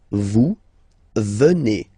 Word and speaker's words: venez: Then classic ending for vous, Z here, and then you pronounce it et, vous venez.